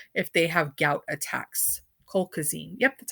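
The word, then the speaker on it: colchicine: are on allopurinol if they have gout attacks coal cuisine yep that's how you say it it's good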